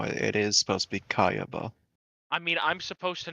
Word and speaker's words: Kaiba: Kiba? No, I'm pretty sure it's supposed to be Kayaba.